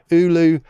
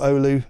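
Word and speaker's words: Oulu: And what's happened is and if if you believe what Noki was saying in Ulu or Olu as it's pronounced I think last year they're they're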